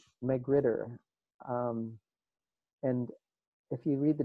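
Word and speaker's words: magrittr: They are added as a part of a package called McGritter. And if you read the documentation, you're apparently supposed to pronounce this with a fake French accent, like Marretour or something like that.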